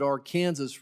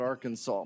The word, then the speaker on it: Arkansas River: the our kansas river is spelled like arkansas but we pronounce it our kansas river as it goes out of colorado through through kansas i'm